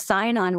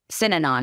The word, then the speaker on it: Synanon: They did, and I don't think, you know, was part of Sinon was, Sinanon is how you pronounce it, is a cult started in California by addicts.